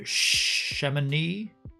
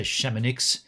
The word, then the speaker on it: Chamonix: the panel that had the shamani yeah that's how you say it not yeah you don't say shamanix so there was a